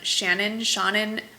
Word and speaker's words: Seanan: it is by, well, her first name is spelled S-E-A-N-A-N. So knowing that S-E-A-N is Sean, I'm gonna gather it's some kind of play on Shannon McGuire, and I'll list